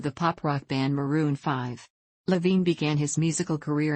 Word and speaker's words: V: over 2010 Overexposed 2012 V pronounced 5 2014 and red pill